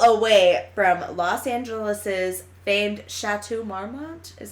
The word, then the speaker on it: Chateau Marmont: stays the hell away from Los Angeles's famed Chateau Marmont is how you say it yeah I warm